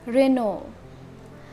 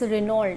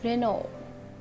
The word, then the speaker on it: Renault: Second is a car brand name is Renault. It's not Renault. I have seen many of the people pronouncing it Renault. Its spelling is Renault. It has ULT in the last, but it's Renault. Renault.